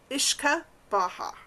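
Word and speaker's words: uisce beatha: So in the Irish term for whiskey is pronounced Ishka Baja. Ishkabaha which literally is the translation from old Irish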